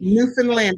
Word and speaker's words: Newfoundland: new I'm learning how to say it correctly Newfoundland I understand so I thought everyone in Newfoundland